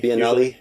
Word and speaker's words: Biennale: the Bombay Beach by Nelly is that house pronounced by Nellie Biennale Biennale yeah okay which I think kind of means